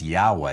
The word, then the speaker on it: Yahweh: notice there it's pronounced yahweh it's really the ya ya sound and sometimes it's come over into english as the ja sound but the truth is